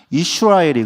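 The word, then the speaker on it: ישראל: 이스라엘 이라 이스라엘이 뭐냐면 원래 원은 발음은 이슈 라엘이 거든요 이스라엘 욕하는 거 아닙니다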